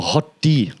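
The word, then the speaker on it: HOTD: from YouTube to say it like this or hot tea that's actually I learned how to say hot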